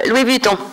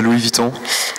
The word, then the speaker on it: Louis Vuitton: suggestions de recherche sur Baou quand on tape Louis buton bonjour Merci pour cette conférence c'est génial c'est comment prononcer Louis Vuitton ouais c'est bon validé